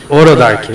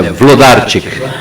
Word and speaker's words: Wlodarczyk: Orodark, ok. Eu sou o Orodark. Não é bem Orodark, mas é Vlodarczyk.